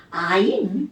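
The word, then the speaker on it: -yne: 얘는 YNE가 붙어요. 그럼 얘네는 발음은 뭐라고 하냐면 아인 이렇게 불려요.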